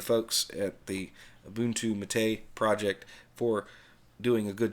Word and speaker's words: MATE: the Mott a desktop yes I know it is spelled ma te for you newbies out there before you post a comment we call it matei that's the way it is and yes I'm